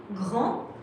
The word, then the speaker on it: grand: Grand with a D, you don't pronounce it.